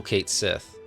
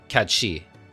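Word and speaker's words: Cait Sith: foot of the mythical Kate Sith I'm sorry Kad shei that's how it's actually supposed to be pronounced but I'm going to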